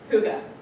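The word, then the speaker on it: hygge: or something like that but it is actually pronounced Huga well what is Huga that's actually a pretty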